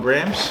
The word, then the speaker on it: Grahams: Golden Grams? I think that's how you say it. Say grams, Golden Grams, but you spell it G-R-A-H-A-M-S. Grahams.